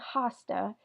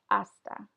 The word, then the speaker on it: hasta: once again we have the letter H here that is not pronounced you don't say hasta it's just esta and the word hasta